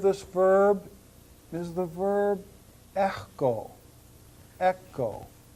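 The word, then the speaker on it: ἔχω: Sometimes you'll hear me pronounce the key more in the back part of my mouth, and I will usually pronounce this word echo. Echo. But to say echo is fine for right now.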